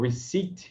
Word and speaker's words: receipt: Então, receipt, repare que o P é mudo em receipt.